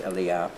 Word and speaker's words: Elia: i still credit elia it's spelt elijah but i believe the proper name is elia and that's how that